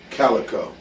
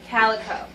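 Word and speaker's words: Kaliko: to pronouncing your last name how do you pronounce that Calico Calico around the world everybody says cico yeah yeah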